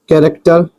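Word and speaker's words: character: तो कहने का अर्थ यह है कि इसका साउंड का निकलेगा। वह किस प्रकार से निकल? आप देख सकते हो। कैरेक्टर चरित्र हो जाएगा।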